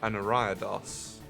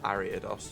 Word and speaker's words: Ariados: I'm pretty sure I've got an Ariados, or Ariados, depending how you want to pronounce it.